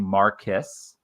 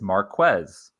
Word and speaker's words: Marquez: a couple different pronunciations it seemed like everybody was kind of saying Maris and it is Marquez so there we go he pronounces it Marquez if uh anybody is